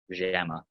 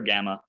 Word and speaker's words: gamma: Gamma rules, let's talk about the gamma. So again, don't pronounce it like a J. Don't go jamma. It's kind of like a throaty G sound.